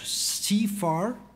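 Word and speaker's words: CIFAR: you to the Canadian Institute of Advanced Research CFR that's the the way to pronounce it for joining us as partners in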